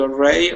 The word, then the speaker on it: already: Okay, give me a good D sound at the end.